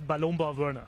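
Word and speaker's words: Ballonbau Wörner: We're here with two quite special guests, Benjamin and Sebastian from Ballon Bau Werner. Is that correct pronunciation? Yes, it's Ballon Bau Werner.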